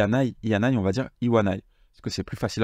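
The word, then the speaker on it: いわない: aille il y en ay on va dire iwanai parce que c'est plus facile à prononcer c'est la seule exception de tout le tableau apprenez là en vrai c'est assez instinctif donc ça devient pas ianail mais iwanai et ensuite ici je vous montre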